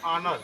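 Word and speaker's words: honor: जैसे मान लो ऑनेस्ट हो गया, ठीक है, ऑनर हो गया, लिखा होता है ऑनर, लेकिन इसको पढ़ते क्या है? ऑनर। क्या पढ़ते हैं? ऑनर। इसका उच्चारण किससे होता है? वावेल से होता है, ठीक है।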